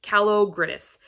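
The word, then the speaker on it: Kalogridis: queen by gian calagris calo gridis is how you say her name i think so i have two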